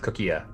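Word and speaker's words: Coquille: do um surname my last name is pronounced cookia it basically it's basically the word for seashell in french delightful neat yeah so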